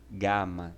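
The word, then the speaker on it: γάμμα: em gelo tá bom é o som de g gama tá bom então sempre que você vê a palavra a letra gama lembre-se que ela tem um som de g entretanto somente quando são dirigir é aquele como em galo tá bom então se lá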